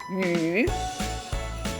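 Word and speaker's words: 鱼: The fish in Chinese language read as yu. Yu. We have many yu, Y-U in Chinese spelling. We have many words pronounced yu.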